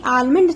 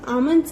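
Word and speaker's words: almonds: आमंड्स हम इन्हें आलमंड नहीं कहते हैं, हम आमंड्स कहते हैं, तो यहाँ पे एल साइलेंट है आपका, एल को सर्कल करेंगे आप.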